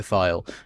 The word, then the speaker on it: Thiel: now, like Peter Thiel, I mean it's pronounced Peter Thiel, and Elon Musk, and the Afrikaners who claimed asylum in the States who now fucking hate it.